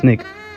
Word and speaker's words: SNCC: In the wake of the Wolves were sittings came the creation of more radical student non-violent coordinating committee SNCC pronounced SNIK the freedom rides of 1961 James Merida's integration of the University of Mississippi in 1962.